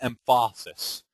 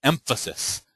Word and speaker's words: emphasis: the word and facets it's emphasis not empasis you know dictionary okay